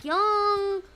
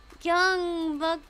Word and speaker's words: Gyeongbokgung: Gyeongbong. Gyeongbokgung. I'm still very uncertain when I pronounce things, so I feel not so confident.